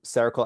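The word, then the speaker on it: Cercle: That's like sounds like the word circle but it's spelled C E R C L E. So cerakal allocation services is the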